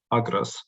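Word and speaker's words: ἀγρός: The only notable difference in the inflection of the words agros and logos is that the accent lies on another syllable. That is, on the first syllable in logos and on the second syllable in agros.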